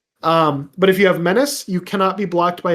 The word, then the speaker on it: menace: Minutia menace or manache if you pronounce it wrong.